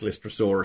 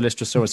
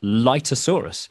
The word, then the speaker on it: Lystrosaurus: did we call the Lystrosaurus a dinosaur, we actually, on the day when we were filming, we mispronounced it and we said Lytosaurus.